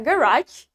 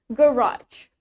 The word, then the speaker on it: garage: Garage, in British accent, the stress is in the first syllable. Untuk kata garage, di dalam aksen British, penekanannya ada di suku kata pertama. Garage.